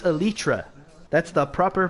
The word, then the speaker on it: elytra: wants to he wants me to call the lytra it's pronounced elytra that's the proper pronunciation but also tomato tomato